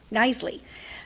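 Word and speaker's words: Knisley: Nisley, silent K, together with the residential kennel harnesses and toys purchased by the city.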